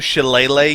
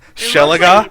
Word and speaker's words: shillelagh: Arlie, are you saying you want to shillelagh your quarterstaff? Yeah. Shelaga?